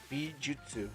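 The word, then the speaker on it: 美術: Bijutsu, not jitsu. Jutsu.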